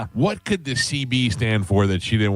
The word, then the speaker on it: Seabie: to pronounce it, you just pronounce it CB.